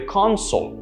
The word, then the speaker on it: console: word for console right notice the stress on con on the other hand